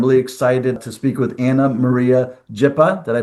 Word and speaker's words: Ana Maria Jipa: I'm really excited to speak with Anna Maria Jippa. Did I pronounce that correct, Anna?